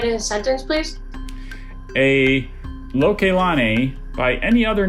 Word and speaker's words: Lokelani: Lokelani.